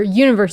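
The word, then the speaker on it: 1VERSE: And also, um One Verse or Universe is actually how it's pronounced, but it's spelled One Verse is a new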